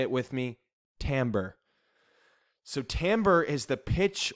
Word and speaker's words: timbre: have this word so it looks like timber like a tree but it actually turns out that the way it's pronounced is timbre say it with me timbre so timbre is the